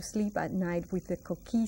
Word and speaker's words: coquí: And we pronounce it coqui, Q-U. Do you remember that U is silent?